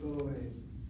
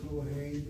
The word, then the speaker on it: Kohen: Cohen. And when it comes to the name of Cohen, you have the accent of that first syllable.